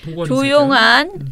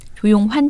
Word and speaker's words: 조용환: 처장님이 모르신 게 아니라 청취자 여러분들 조용한이라 그랬어 내가? 발음을 헷갈리실까 봐. 조용환 변호사님, 굉장히 유명한 인권 변호사입니다.